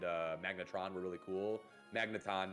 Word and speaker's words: Magneton: magnetron were really cool magneton not magnetron he's a transformer yeah